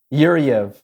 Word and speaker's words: Yuryev: to say it right you heard yuriyev yuri okay did you get that that's your